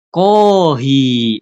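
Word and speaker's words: コーヒー: Kohi panjang ya bacanya artinya kopi dari kata bahasa Inggris cofe.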